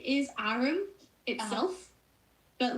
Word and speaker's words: Arum: That's one of the reasons why Arum. Yeah. So a lot of people like to pronounce it as Arumi, which is actually the wrong pronunciation. It's Arum, like the liquor rum.